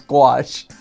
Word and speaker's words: gouache: From now on, it's gouache.